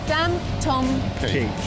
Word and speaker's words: Dantomkia: Now, how do you pronounce it? Dantomkia. Dantomkia.